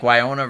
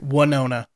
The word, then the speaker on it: Winona: don't seem to like wyonna ryder gets it and then mike's say her name again why no not ryder winona winona right now no rider i don't